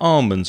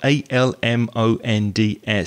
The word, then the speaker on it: almonds: there's one thing about almonds which is spelt a-l-m-o-n-d-s some people pronounce the l and some people don't so that's a question